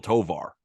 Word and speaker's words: Tovar: And it rhymes with so far. And his name is Ezequiel Tovar of the Colorado Rockies.